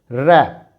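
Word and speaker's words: wrap: W silent होने की वजह से इसका प्रोनाउंसिएशन हो जाएगा रैप, रैप।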